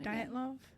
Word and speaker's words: Dyatlov: tell you it's the diato of pass did i say right hold on let me get to my pronunciation diet love diet love diet love diet love